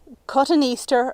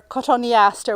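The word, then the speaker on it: Cotoneaster: this planting I've used a fantastic coton Easter or coton Aster whichever way you pronounce it D Coral Bells and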